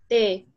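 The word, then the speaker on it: té: The same goes with, for example, te or te. It's pronounced in the same way, but whether it has an accent or not, it determines the meaning of the word.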